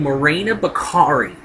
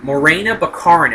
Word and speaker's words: Morena Baccarin: um an actress named marina bakari a bukharin rather morena baccarin if i'm pronouncing the name right who plays Wade